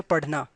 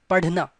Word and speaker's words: पढ़ना: Alright, so it's not DH, perfect DH sound, but little R sound comes. Padhna, alright, so it's padhna. Alright, it's not padhna, it's not padhna.